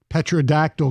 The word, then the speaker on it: pterodactyl: Oh, why can't you hear a pterodactyl go to the bathroom? A pterodactyl. Pterodactyl. It's a pterodactyl. Well, yes. Is that the joke? Thank you. That's the joke. Because the P is silent.